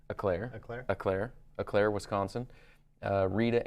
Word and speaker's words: Eau Claire: We've got Brent Schubel out of, I can't pronounce that, Eau Claire, E-A-U Claire, I don't know, sounds French or something. Eclair? Eclair.